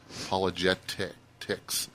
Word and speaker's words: Apologetix: APOLOGETIX. You got to put the X on the end. Apologetics with an X.